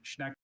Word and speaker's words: Schnecken: Schnecken. Schnecken. Can I please have all the information? Schnecken has just the one pronunciation. Schnecken.